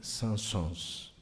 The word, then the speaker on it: Saint-Saëns: chamado, creio eu que é assim que se pronuncia, Camille Saint-Saëns.